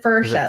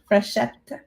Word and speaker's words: Frechette: My father never pronounced our name correctly. Frechette? No, he said Frechette, like it was F. It is French. It's French Canadian, actually. Michel Frechette. Frechette, because it's double TE.